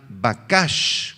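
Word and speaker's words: בקש: Esta es la palabra hebrea bakash, con B grande, Q y acento en la segunda A.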